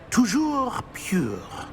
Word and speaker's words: Toujours pur: I order you to pronounce it for me. Oh, Master knows that Scrope's French is most pitiful. Very well. Toujours pure.